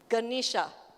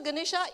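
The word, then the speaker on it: Ganesha: it's actually the figure of how do you pronounce that g g ganisha so ganisha is the um elephant god the Hindu god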